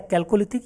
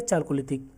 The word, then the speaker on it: Chalcolithic: धातु युग का आरंभ किसको कहा जाता है, ताम्रपाषाण काल या कैल्कोलिथिक या चाल्कोलिथिक, ठीक, इंग्लिश में इसके दोनों उच्चारण किए जाते हैं, कैल्कोलिथिक और चाल्कोलिथिक।